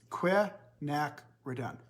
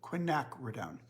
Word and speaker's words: quinacridone: of you asked about how to pronounce Quinn acronym it's quick knack we're done Quinn knack we're down and they're all the